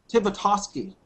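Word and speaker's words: Tibitoski: Tibitosky.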